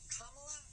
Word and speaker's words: Kamala: Kamala rhymes with Mamala.